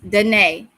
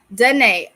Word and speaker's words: Danae: Renee, pronounced Renee, but with the D. Danae. Danae.